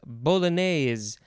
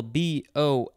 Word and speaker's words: bolognese: So the first word is bolognese, capital B-O-L-O-G-N-E-S-E. There are 1, 2, 3, 4, 5, I think 6 or 7 different ways to pronounce this word.